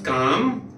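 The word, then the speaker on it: calm: बड़ा है फादर वास काम काम फादर वास काम कॉलम नहीं कालम नहीं है ए नहीं प्रोनाउंस करना है फादर वास काम एस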